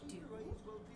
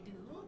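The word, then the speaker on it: dubh: So the way you say black in Gaelic is dú. So dú, that would be coffee dú.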